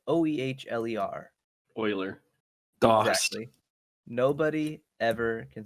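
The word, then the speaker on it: Oehler: um like i had always used which is spelled o-e-h-l-e-r euler dawg nobody ever can spell that polar pronounced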